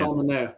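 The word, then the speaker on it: Manaea: Manea.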